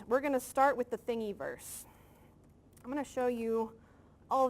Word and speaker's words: Thingiverse: everybody up yeah and I should say thingy verse it's spelled thing I verse comm thing I verse